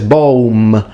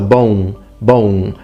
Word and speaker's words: boum: It's interesting because he fully pronounces the M, he says boom, and that's a bit too modern Italian. As an Italian, that's how I would naturally pronounce it. I would say boom, but the Latins, the M is fully nasalized, so it needs to be so bone, if you want to sound authentic.